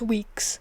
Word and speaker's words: Weeks: It's spelled like Week, but it's pronounced Weeks.